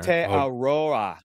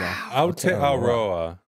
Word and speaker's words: Aotearoa: Aotearoa. Yeah. There you go. Aotearoa. Roa. Yeah. Aotearoa. Aotearoa. Aotearoa. Taylor's watching going, EOP. Oh, God. Oh, these dudes. Aotearoa.